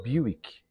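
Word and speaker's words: Buick: a gente vai nesse Buck como os estrangeiros gostam de falar bick a pronúncia mais detalhada Esse é o motor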